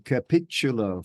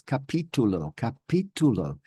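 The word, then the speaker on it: capítulo: And so things like, I was saying capitulo for a long time until I heard myself back with my audio delay software. And then I realized I wasn't saying the right thing. It's capitulo.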